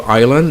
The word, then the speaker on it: island: Then of course you have island. Everybody knows the pronunciation of that word. You drop the S.